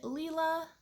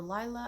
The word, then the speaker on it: Lila: i have the mini leela or lila i think it's pronounced leela um but i always